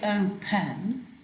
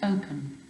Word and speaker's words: open: put those in yourselves open again is unstressed it doesn't say oh pen it's open okay so you would